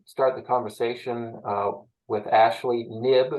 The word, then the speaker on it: Knibb: We're just going to start the conversation with Ashley Knibb. It's Knibb. The K is silent.